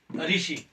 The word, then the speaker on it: ऋषि: ये कतिपय समझते हैं कि ये रौ है, रौ नहीं है, ये री है, ये री की मात्रा है, क्योंकि री स्वर होता है।